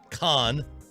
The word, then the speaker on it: Khan: Khan. Dawn. There's a different way. No, there's no here. I hear the same thing. No. I hear the same syllable. Khan. There's a difference when you slowly try and emphasize it, but in conversation, no.